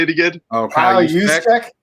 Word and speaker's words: Juszczyk: How do you pronounce this? Juszczyk? How do you say it again? Oh, Kyle Juszczyk? Juszczyk, yeah, the GOAT, the second best behind Ham, from the Vikings.